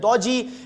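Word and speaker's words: DOGE: You can pronounce it at dodgy.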